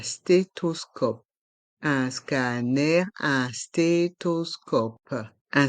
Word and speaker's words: stéthoscope: un stéthoscope dans le mot stéthoscope le P reste en suspens un stéthoscope un scan un stéthoscope